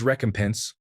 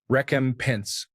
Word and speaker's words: recompense: I thought it was recompense, like to compensate again as opposed to its correct pronunciation, recompense.